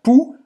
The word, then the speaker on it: poux: Então aqui a diferença é esse aqui, pu, Você não vai pronunciar esse X no final. Pou, pou, e aqui pu.